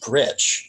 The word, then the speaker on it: GRYC: Hi, at GRYC, which is pronounced Gritch for anybody who doesn't know, who might not casually know Czechoslovakian.